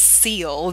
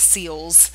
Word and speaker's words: Seal: just for the record my name is seal there's no S on the end of it it's not miss seals there's only one seal it's not multiple aquatic